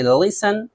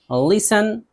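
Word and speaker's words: listen: अक्सर सी एच से पहले या फिर ई एन और एल ई से पहले, इन तीनों सूरतों में टी नहीं पढ़ा जाता है।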